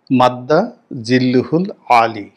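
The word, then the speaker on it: مد ظله العالي: কিন্তু সালাউদ্দিন সাহেবের মত মানুষ যখন মাদ্দা জিল্লুহুল আলী উচ্চারণটা এরকম।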